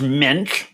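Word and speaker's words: Moench: Is it Doug Munch is the guy who wrote this originally? Yes. Jarret's going to be the actually guy on this podcast, if you don't know. Actually, his name is pronounced Minch.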